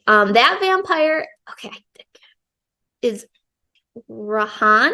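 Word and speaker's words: Rhian: that vampire okay is rahan I think that's how you say it r i a n rahan um he he's the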